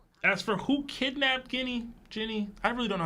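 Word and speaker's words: Ginny: for who kidnapped Guinea Jenny I really don't know how to say her name um it's Jenny just think of Jen is Jenny okay whatever kidnapped her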